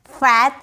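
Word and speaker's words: faith: फैथ नहीं फेथ। ए का उच्चारण है ना ए जो होता है ना इसका साइन सिर्फ ऊपर में एक होता है। ठीक है? इस तरीके से तो इसे हम बोलेंगे फेथ।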